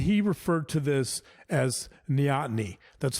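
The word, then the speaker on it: neoteny: and he referred to this as nyotny that's spelled n-e-o-t-e-n-y nyani means taking youthful characteristics into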